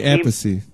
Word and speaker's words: Appice: It's Vinny Appice. Say that again? Vinny Appice. About the pronunciation of the last name now?